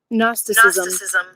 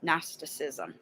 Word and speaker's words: Gnosticism: It's the teaching based on, okay, now if you want to know how it's pronounced, here, sorry, Gnosticism. Gnosticism.